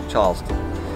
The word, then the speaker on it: Charleston: Charleston the correct pronunciation Charleston is phonetically spelled c-h-a-a-a-s-t-o-n -chast you can add as many A's as you wish but Charles we got